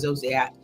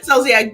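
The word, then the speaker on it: Zolciak: that Rob did not terminate their relationship with zosak Excuse me zolia ziac yeah I said it right the first time ziac Beerman nor take any other meaningful action to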